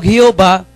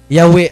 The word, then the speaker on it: Yahweh: Kanang moingon mo Jehovah, that is according to the history, that is mistakenly pronounced. Dili mauna nga pagka-pronounce kanang Jehovah. Kay Yahweh ang insakto na I am who am.